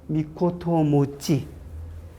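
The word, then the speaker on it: ミコトモチ: 여기 미코토 모찌. 미코토 모찌라고 읽으세요라고 부르는 거예요. 나는 당시에 저 부자는 분명히 막부의 부자고 교토 후, 그 다음에 오사카 후 하는 그 후라고 읽어야 되는 줄 알았는데 미코토 모찌라고 읽으래요.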